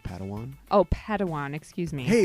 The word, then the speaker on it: Padawan: to this bold Jedi it's pronounced Padawan oh Padawan excuse me